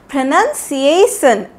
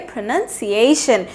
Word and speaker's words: pronunciation: तो ऐसे ही हमसे कभी कभी गलती हो जाती है, हम लोग बोलते हैं प्रोनाउंसिएशन, बिल्कुल गलत। इसको हम लोग ऐसे नहीं बोलेंगे, इसको हम लोग बोलेंगे प्रोनाउंसिएशन।